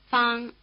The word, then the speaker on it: Fang: Fang. Notice that the vowel sound a is spelled with the letter a as in Okinawa.